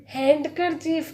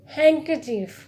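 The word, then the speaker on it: handkerchief: हैंकरचीफ, हैंडकरचीफ नहीं होता है, इट्स हैंकरचीफ।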